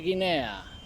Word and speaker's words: Guinea: Estic a Papua Nova Guinea, acompanyat d'amics i familiars. Papua New Guinea en anglès. Fixeu-vos que la A final no es pronuncia i tampoc es pronuncia de cap dels països que portin aquesta paraula.